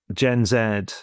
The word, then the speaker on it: Gen Z: talking kind of then, there's Gen Zed, Gen Z, depending on where you're kind of from is how how it's pronounced, is is a well,